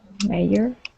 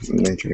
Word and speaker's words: major: practice or improve on mayor yeah major yeah yeah I think that was it so yeah it's it's a j so it's a major uhuh major okay yep